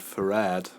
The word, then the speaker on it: farad: farad I was told that farad actually comes from faraday so threat is the right way to pronounce it in germany will save her art or farad that's actually wrong so I'm just trying to say farad from now hunt which is the correct way I said for